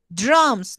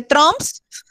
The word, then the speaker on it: drums: Drums, no, la U no se dice, se dice es como una O, ¿listo? Pero no una O, sino como drums. como más alargadita. Como trompeta, trumpet, pero algo así, pero con D. Algo así, papá, drum. Porque no se dice trumps.